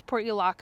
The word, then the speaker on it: Portulaca: And I've heard it pronounced other ways, but the way that I pronounce it is Portulaca, and it is an annual.